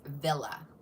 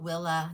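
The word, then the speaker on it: Wille: Um, it's spelled W I L L E, but it is pronounced Villa. Not Willa, not Will.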